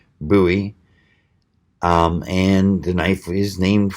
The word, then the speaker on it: Bowie: basics with your daddy forgot to teach you Buie notes yes I know a lot of people pronounce it bowie and you're not going to get into too